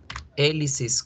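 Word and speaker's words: Elis's: Pero en pronunciación yo debo decir así. Elisis question. ¿Sí? Elisis question. Elisis. Ay, perdón, que es con Z. Elisis question. Good.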